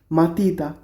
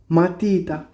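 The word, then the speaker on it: matita: pencil তো pencil কে কি বলতেছি ইতালিয়ান ভাষায় মাতিতা এম এ টি আই টি এ মাতিতা মাতিতা মানে পেন্সিল তারপর এটা কি একটা ব্যাগ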